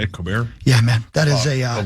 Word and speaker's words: Colbert: Colbert?